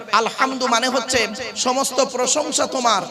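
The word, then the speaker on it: الحمد: আলহামদু, গলার ভেতর থেকে হে এটা উচ্চারণ করবেন। আলহামদু মানে হচ্ছে সমস্ত প্রশংসা তোমার আল্লাহ, সমস্ত প্রশংসা আল্লাহ।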